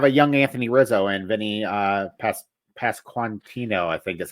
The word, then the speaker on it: Pasquantino: And they have a young Anthony Rizzo and Vinny Pasquantino, I think is how you say his name.